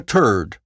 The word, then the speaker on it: third: Newfoundland first, Canada third turd, which is how third is pronounced in Newfoundland.